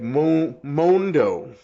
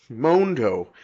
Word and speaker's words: Mondo: It's actually more like Mondo. Mondo. It's got a mo, not a ma.